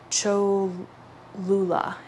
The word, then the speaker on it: Cholula: to the largest temple and the church, and Cholula is, I believe, how it's pronounced.